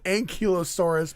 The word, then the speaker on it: ankylosaurus: my son just texted me and said it's pronounced ankylosaurus but still i hate that piercing i didn't